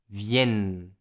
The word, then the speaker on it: viennent: la prononciation est importante la terminaison ent est muette mais on prononce les 2 n ils elles viennent bien encore une fois